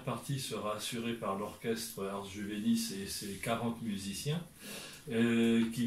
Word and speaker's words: Ars Juvenis: avec donc l'orchestre Ars Juvenis, est-ce que je prononce bien? Ars Juvenis.